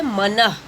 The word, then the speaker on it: मनः: क्योंकि विसर्ग लगने के बाद उच्चारण करते समय ह जो है वह ध्वनि सुनाई पड़ती है। इस तरह से हमें उच्चारण करना पड़ेगा। हम मन करके उच्चारण नहीं करेंगे।